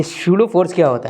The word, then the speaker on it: pseudo: क्योंकि इसका नाम है पीस सूडो फोर्स। तो उसको कोई-कोई बोलेगा पसूडो फोर्स। ये पसूडो नहीं है। इसका नाम है शूडो फोर्स। शूडो। ये सूडो फोर्स क्या होता है?